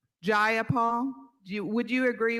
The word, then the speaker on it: Jayapal: you agree with miss j paul that there was no takeover it was just jayapal if you're gonna say my name please say it right it's jayapal jayapal do you would you